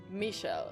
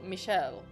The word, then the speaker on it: Michael: that Michael's name is supposed to be pronounced like Michelle. Michelle and then Michelle. Michelle and Michelle. So, they're pronounced almost the exact same.